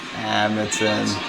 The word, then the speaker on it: Amundsen: All right, let's hear the correct pronunciation. Amundsen.